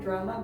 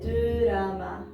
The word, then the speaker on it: 드라마: So also when Korean people say drama, they cannot say drama, but they say drama. How do you say drama? Drama. Yes, drama.